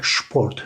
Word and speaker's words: Sport: şıp şeklinde okuyor yani SP olduğunda da kelimenin başındaki s harfini biz şey şeklinde okuyoruz kelimenin başındayız şu Port mesela Sport Sport Sport Sport şeklinde söylüyorlar ya da şu Karen